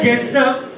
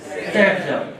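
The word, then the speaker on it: Zaitsev: NCERT लिखता है जेटसम and pronunciation as सेटसम, खुद लिखता है वो।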